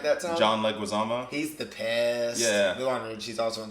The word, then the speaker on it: Leguizamo: and i say it right that time john leguizamo he's the piss yeah he was in this